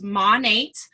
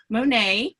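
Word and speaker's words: Monat: because it's modern nature so it's mon 8 mon eights you'll hear it's not a painting okay you'll hear people say monet no Nate nature okay so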